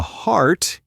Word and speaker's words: heart: The vowel sounds are quite different. Heart has that long R sound, while hurt has more of an sound.